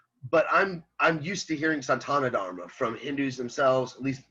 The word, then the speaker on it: Sanatana Dharma: Maybe it's pronounced Sanatana Dharma, and they speak so fast when they say it to me that it sounds like Santana Dharma.